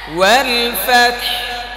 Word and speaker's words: والفتح: হ্যাঁ, এটাকে ওয়াল ফাতহ শেষে হ্যাঁ স্পষ্ট করতে হবে, বের করতে হবে, এটা পড়তেছো, এটা বোঝাতে হবে তোমাকে।